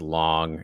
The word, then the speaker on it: Lang: And people were like, "Oh, Robert Lang," and he's like, "It's actually pronounced Long." And then people started calling him Long, and then I